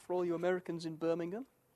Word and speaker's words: Birmingham: the Sun now for all you Americans in Birmingham it's British Birmingham not American Birmingham I